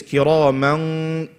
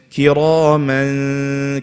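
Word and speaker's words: كِرَامًا: But if I say it like this, kiraman ka, what's going to happen then? Then it's going to be easier for me to pronounce the kaf.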